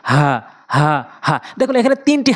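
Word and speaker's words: هاء: এটা হা বলতে হবে হলকের শুরু থেকে একদম নর্মালি হা হা হা।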